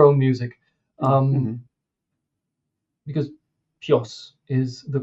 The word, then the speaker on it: PJOS: because PJOS is the correct way to pronounce it, right?